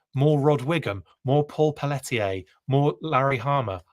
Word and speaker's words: Pelletier: I said Paul's name wrong. It's Pelletier. It's Pelletier, I think. I try and go real French on it, even though that's not how you pronounce it.